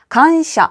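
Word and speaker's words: 感謝: 간샤 한국어랑 발음 동일합니다.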